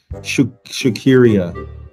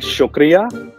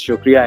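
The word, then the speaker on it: شکریہ: right go ahead so my second word is shakiria i'm pretty sure i messed that one up but it's essentially supposed to mean thanks okay so it's called shukria yeah you got it right yeah but uh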